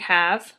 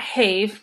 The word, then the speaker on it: have: So things like have, because you have irregular words like have, where it's gave, save, Dave, wave, cave, have, doe. So it's not have, it's have.